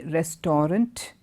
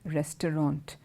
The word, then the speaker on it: restaurant: section I hope you noticed how I've been pronouncing one particular word are est a you are a nt I did not say restaurant hmm I said restaurant can you call the restaurant and ask them